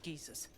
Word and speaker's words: geyser: He's stuck in there with poisoned geezers. We don't get him out soon. Dude, the people in the UK really pronounce geyser as geezer.